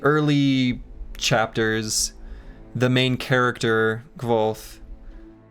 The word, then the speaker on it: Kvothe: chapters, the main character, Kvolth, explains how to pronounce his name, that it's like a real soft V sound.